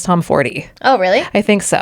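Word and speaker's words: Tomforde: And yeah, the Smut Clurb is reading Play Along by Liz Tom Ford. I think we're saying her name wrong. I think it is Liz Tom Fordy.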